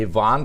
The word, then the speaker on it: Yvonne: D, Yvonne, spelled like Ivan, Young.